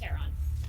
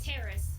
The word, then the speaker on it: Terron: If you do not know who Terron is, that is, I'm gonna make sure I'm pronouncing their, yeah, it's Terron. Not Terrace, which is Spaz's artist, Terron, who's Contender's artist, and along with Carcano Pink and Carcano Strawberry, which is the Carcano sisters.